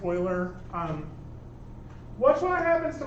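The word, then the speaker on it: Euler: filter e l r um it looks like uler apparently it's pronounced Oiler um watch what happens to my curves when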